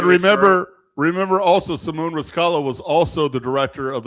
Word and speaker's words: Riscala: It So, rhymes with Kabbalah. yes. Then you got on the Remember, right. You hold got on, another John. Jewish girl. Remember also Simone Riscala was also the director